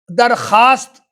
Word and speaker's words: درخواست: طرح خواب، خواجہ، خار، درخواست، تو یہ واو کی آواز نہیں آتی ہے، جو آگے جو لفظ ہے اس کے اعتبار سے اس کی آواز آتی۔ خامخواہ، خورشید، کم خواب،